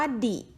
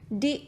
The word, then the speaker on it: the: ตัว นี้ นะ คะ ถ้า อยู่ หน้า สระ เรา จะ ออก เสียง ว่า ดิ ค่ะ เดี๋ยว เรา จะ ไม่ ออก เสียง The นะ คะ เป็น ดิ โอ เว่น นะ คะ